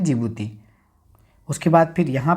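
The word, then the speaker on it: Djibouti: Somalia, Ethiopia, Eritrea और डिजिबूती। जिस जिबूती को हम लोग डी और जिबूती से याद करते हैं, लेकिन डी यहाँ साइलेंट रहता है तो इसे हम कहते हैं जिबूती।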